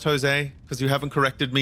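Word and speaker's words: José: name because you know it's a Latin thing right where um it starts with a J but it's actually pronounced as a h and it gets a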